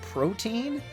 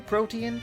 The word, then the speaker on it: Protean: under the delusion that it is pronounced protein, like the in-game item, but please just Google Protean for a second, because